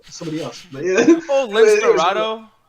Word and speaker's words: Lince Dorado: Oh, Lince Dorado. Yeah, Lince Dorado. That's how you pronounce it.